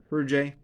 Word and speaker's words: Hergé: the author's finest work how do you pronounce his name her Jay uh apparently uh even